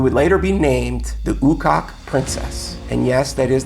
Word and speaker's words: Ukok: And this is where they found a 2,500 year old Siberian princess who would later be named the Ukok Princess. And yes, that is the right pronunciation, I had to look it up.